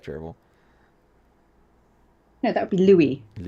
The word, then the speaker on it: Louis: No, that would be Louis. I know that you people can't say Louis, and you think of it. You try to pronounce it as Lewis.